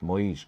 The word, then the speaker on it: Moise: Moise Keane, pronounced Moise or Moisey. People say it any different way. I'm going for Moise.